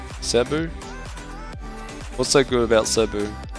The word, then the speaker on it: Cebu: do you how do you pronounce it on pronounce it right Cebu what's so good about subbu yeah